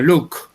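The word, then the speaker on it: Locke: por un inglés de apellido look y un look l así se escribe bloque este y su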